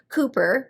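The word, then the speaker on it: Cowper: of austin's favorite poets cooper which is spelled like calper c-o-w-p-e-r and if you need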